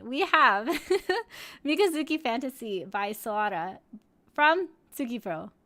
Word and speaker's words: SOARA: But yes, our first song today is Mikazuki Fantasy by Sora. We do have an official link here, so we will... Oh, I pronounced it wrong, excuse me. It's Soara.